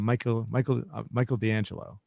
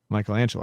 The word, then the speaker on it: Michelangelo: So I did want to ask you something about now you'd send me you told me about Michael D'Angelo. Michelangelo. I'm sorry, Michelangelo. So I can't pronounce the name right.